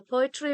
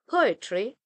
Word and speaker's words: poetry: For example, in the word poetry, the first syllable po is stressed, while the second syllable it is unstressed. That's why we say poetry, but we don't say poetry. Poetry, the first syllable is stressed.